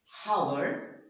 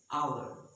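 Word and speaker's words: hour: and the world honesty our so there is not power it is our honor honesty now what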